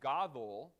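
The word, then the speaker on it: גדול: some random unreasonable thing that explains exactly why it's godol but gedola gudolim and godoloth each time it goes to shewa because each time the comet is an open propriotonic syllable so that's good see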